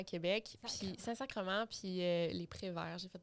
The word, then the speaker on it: sacrement: même chose c'est qu' sac sacrament sacrement ah oui on dit sacrement ok moi je pensais c'était sacrament même si c comme